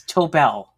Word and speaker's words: Tobel: It's Tobel. Can you remember that? You know, it's interesting. Yeah, think toe. Think toe on your foot, and a bell. You ring.